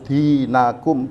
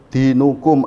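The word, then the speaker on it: دينكم: Ini membacanya harus dinakum, tidak boleh dinukum atau dinikum, tapi wajib dinakum karena ini objek maf'ul bih.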